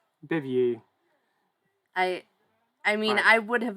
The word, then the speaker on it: Bevier: Yep, Bevier. Yep. Bevier. Like beaver.